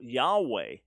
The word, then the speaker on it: Yahweh: this being God so Yahweh which is the Covenant or name of the Lord most likely pronounce y'all way you never have ha